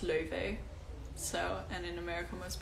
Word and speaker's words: Laufey: but not laffy or laufey although go ahead and pronounce it however you want but um in icelandic it's pronounced le vee so and in america most people say like louis vey because that's like the